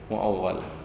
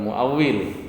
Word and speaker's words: muawwal: Dan mudhar zahir muawwal. Bukan muawwil, bukan zahir muawwil.